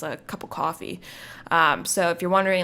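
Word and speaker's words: Ko-fi: it was like like it was pronounced coffee um because the way it's spelled it's kind of like how it sounds so it's ko dash fi and i was like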